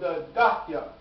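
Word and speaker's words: Dahieh: So, there is an area in the south suburb of Beirut called Dakia. Is that pronunciation okay?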